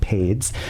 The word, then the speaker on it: P41DZ: And so once Lonnie hops off at 11:30, we're going to have Pades, spelled like P41DZ, Pades, is Tito Vida, lives in the West Coast,